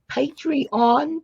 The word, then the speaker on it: Patreon: So what's great about it is the journals that we're doing, you can hop right over to Melody's, make sure I pronounce this right, Patreon channel.